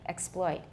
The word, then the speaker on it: exploit: one exploit exploit exploit i have a full vowel on x by the way i do differently exploit he's trying to exploit